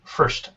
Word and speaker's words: first: And first. First is three consonants, but it's still one blend.